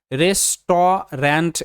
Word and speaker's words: restaurant: এই শব্দটা দেখে নাও যেটা রেস্টুরেন্ট এটাকে কিন্তু রেসট রেন্ট এরকম সাউন্ড দেখে মনে হতে পারে কারণ আর